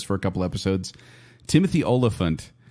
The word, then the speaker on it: Olyphant: Timothy Olyphant, I always say his name like that. I don't know why. Oliphant, like in Lord of the Rings.